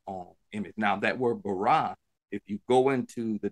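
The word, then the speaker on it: ברא: Bara is the Hebrew translation. It's pronounced bara. B-A-W-R-A-W. Bara.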